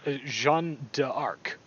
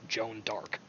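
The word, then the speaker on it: Jeanne d'Arc: article put it D in French it's Jean d'Arc so if you just shave you just say the French name it with an English or American accent it's Joan d'Arc so whatever it's not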